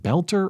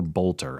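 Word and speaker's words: Boelter: You know if it is it belter or bolter? I've heard it pronounced both ways. I've only read it. So I'm going to go with Bolter phonetically.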